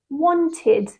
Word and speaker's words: wanted: Well, the reason I say this is because when a word ends in a t sound or a d sound, we change the ed to id. So we add an extra syllable. So the word want becomes wanted, and the word need becomes needed.